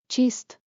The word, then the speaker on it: چیست: Tip, chist rhymes with gist.